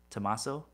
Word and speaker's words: Tomaso: Tomaso? It's like tomato with an S.